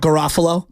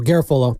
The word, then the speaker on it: Garafolo: Garafolo. Not Garofalo. No, Garafolo.